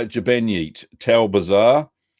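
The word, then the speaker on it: Ġbejniet: Upcoming videos this week, we're going to be doing, and hope I got the pronunciation right, Jabnyit, Jabenyit, that's how you say it, Jabenyit, Tal Bazaar.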